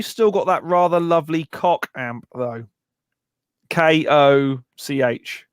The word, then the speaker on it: Koch: Mike, have you still got that rather lovely cock amp though? Koch. it's pronounced cock.